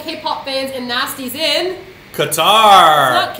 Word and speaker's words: Qatar: fans and nasties in Qatar it's notar q a t a r Qatar how do you pronounce it qar qar what happens to the a after the Q quar quar very good I think I'm pronouncing